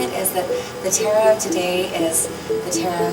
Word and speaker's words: Tara: I'm saying it right Tara just like one with the wind or as my my grandparents from the south to say Tara um well Tara is